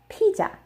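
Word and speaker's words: 피자: Korean it is pronounced PJ PJ PJ and the reason why is because the Z sound does not exist in Korean the closest sound they have is on the J sound so whenever there is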